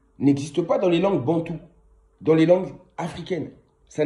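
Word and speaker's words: Bantu: On écrit Bantou avec un U à la fin, B-A-N-T-U, Bantou.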